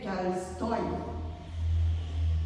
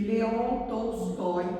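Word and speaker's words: Tolstói: Então eu estou lendo um livro do do autor escritor Carstoy, que é assim que se pronuncia em russo e Leonstóy em português, né?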